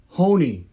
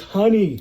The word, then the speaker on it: honey: Han that's why okay and then if you add a y you get Hony no it's honey honey you know it's because